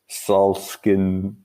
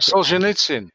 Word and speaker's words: Solzhenitsyn: It's from a Russian author called Alexander Solzhenitsyn. I'm sure I'm not pronouncing that. Solzhenitsyn.